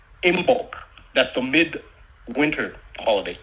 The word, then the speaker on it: Imbolc: So the midwinter holiday or holy day in the Druidic, Gaelic, Scottish, Celtic tradition is called Imbolc. That's the midwinter holiday. Imbolc. It's spelled IMBOLC.